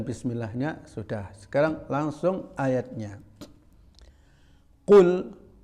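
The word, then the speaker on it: قُلْ: Qul. Jadi jangan dilebih-lebihkan. Qul. Tidak betul. Di negara Arab manapun tidak ada orang baca qaf itu ya.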